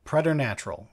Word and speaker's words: preternatural: Yeah, preternatural is the pronunciation.